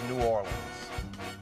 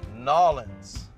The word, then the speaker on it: New Orleans: on how the name of my hometown is pronounced let's start with the way I play it which is New Orleans I think most people say nuanced here's how you do not pronounce you often nollans if you say Nollan you are not from